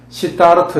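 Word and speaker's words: Siddhartha: 이래, 발음을 이렇게 시타르터 이래 부르는데요.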